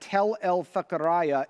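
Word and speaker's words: Tell Fekheriye: And this is actually rounded out by another related concept that is illustrated well in an inscription found at Tel el-Fakaraya in Syria. Yes, that is the pronunciation of it.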